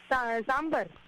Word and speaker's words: sambar: How do you pronounce? Oh, okay. सांबर।